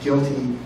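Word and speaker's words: GILTI: So it's guilty income. People will say guilty income even though the I is income, but that's going to be taxed on a current basis in the U.S.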